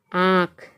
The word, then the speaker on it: आँख: तो कैसे उसका उच्चारण होता है, पाँच, चांद, मतलब मुंह से भी आवाज़ निकल रही है और नाक से भी आवाज़ निकल रही है, आँख, पाँच, चांद और आँख।